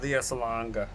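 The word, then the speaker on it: Lea Salonga: Gilbert Gottfried was in Aladdin with Leah Salonga.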